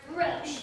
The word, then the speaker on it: Roche: Bill Roach. It's pronounced Roche, Bill Roche.